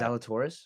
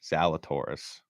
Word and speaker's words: Zalatoris: Do not mispronounce my boy Zally's name like that. Zalatoris? Zalatoris.